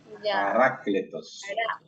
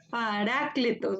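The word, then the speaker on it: παράκλητος: Paracletos. Excelente. Pero mira dónde está el acento. Parácletos. Parácletos.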